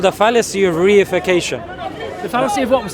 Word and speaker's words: reification: It's called the fallacy of reification. The fallacy of what was that word? Reification. Reification. Yeah, it's one word, but I've just broken it down. 4 syllables.